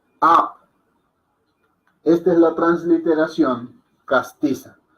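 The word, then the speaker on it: आप: Exacto, como la escriben más son Narvadan, se escribiría con doble A, pero si lo hacemos en una transliteración castiza sería la A con tilde y la P. A. Porque la A es la transliteración al inglés. En español, en la forma castiza, para que alguien de habla hispana la pronuncie bien, tendríamos que escribirla de esta manera.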